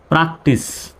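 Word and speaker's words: practice: সুতরাং সির উচ্চারণ স্বর মতো। প্র্যাকটিস।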